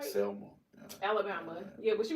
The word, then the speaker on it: Selma: Salmon? Am I saying it right? Selma.